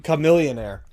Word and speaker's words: Chamillionaire: Chamillionaire.